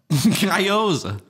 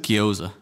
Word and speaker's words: gyoza: Gyoza? How do you pronounce it? Gyoza.